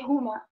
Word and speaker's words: huma: ah okay we say huma all right it's funny because we have the silent h as well as the accentuated one the strong one but in this case it's silent um the only the